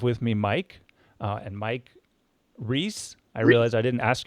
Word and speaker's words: Reiss: me Mike and Mike Reiss. I realize I didn't ask your last name pronunciation. It is Reiss. It is Reiss, I guess correctly, almost like the peanut butter cups, Reiss peanut butter cups.